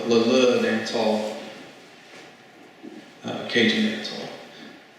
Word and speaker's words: Leleux: It's Leleux dance hall, Cajun dance hall. Audience Member: Where was it at? John Sharp: It's Leleux, Louisiana, it's an unincorporated community near Crowley Audience Member: How do you spell it?